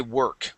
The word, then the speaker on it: work: good just remember class when you see an o r here in the word work that is an R sound and not an o r like War okay we say work working okay um now uh